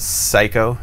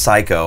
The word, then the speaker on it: Seiko: But if you look at tennis, was it Seiko? Is that Seiko? Is the clock? S-E-I-K-O, I think. Seiko, yeah. I think. I don't think it's pronounced Psycho.